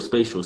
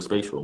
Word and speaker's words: Spatial: Uh, it's spatial. Spatial. Spatial. Spatial.